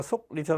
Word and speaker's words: 속리산: 기억할 때 이 속리산 할 때 발음할 때 리하고 속하고 기억하고 리으면서 자음동안 연어서 앞에 게 이응으로 발음되잖아. 그럼 이응으로 되니까 속리산 할 때 K로 나타나는 게 아니라 NG로 이제 표기해 주는 게 맞겠죠.